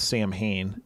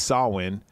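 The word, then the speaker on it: Samhain: which they again talk they pronounce Sam Hayne in this movie right but it's saulin is like the old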